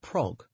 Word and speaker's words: prog: appearing in the 1970s it is pronounced so that it rhymes with slog and anyone who tells